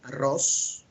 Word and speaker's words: arroz: We say arroz. Could you pronounce that for me?